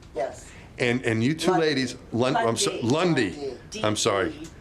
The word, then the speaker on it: Lund: And you two ladies, Lundy. I'm sorry. You pronounce the E, sort of, kind of. Lundy.